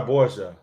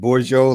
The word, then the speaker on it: Borgia: Cesar Borgia. Yeah, thank you, specialist. Because Cool. I was saying Borgio, like I was getting ready to do like Butros Ghali or something. Yeah. But yeah, Cesar Borgia.